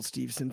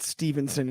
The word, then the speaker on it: Steveson: I'm a huge Gable Steveson fan. And by the way, it's not Stevenson, it's Steveson for all those out there that pronounce it all the time. It's Steveson, Gable Steveson, real simple.